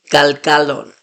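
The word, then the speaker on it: גלגלון: So notice the difference. Galgilon, galgalon. The stress is on the last syllable, but I'm kind of emphasizing that middle syllable because it's the different vowel.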